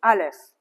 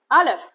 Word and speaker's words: Aleph: It's a silent letter, and usually it has the vowels A or E before it.